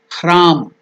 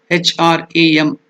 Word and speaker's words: Hram: Now I will teach you only the pronunciation. Hram. H-R-A-M. Hram.